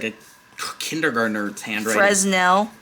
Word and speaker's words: Fresnel: like a kindergartener handwriting frel frel I know but it's spelled fresnel that look good hi